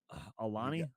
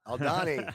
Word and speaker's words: Aldhani: Alani. Aldhani.